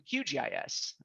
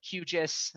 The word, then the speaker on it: QGIS: today I'll turn to qgis uh some call it qis I I like to spell it out but that's what you